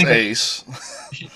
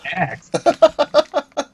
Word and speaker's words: Ace: It's pronounced Ace. I thought that was Axe.